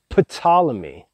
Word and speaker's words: Ptolemy: with a p it's p t o l e m y so you could pronounce it more exactly as ptolemy but normally it's spoken as simply ptolemy so ptolemy's all majest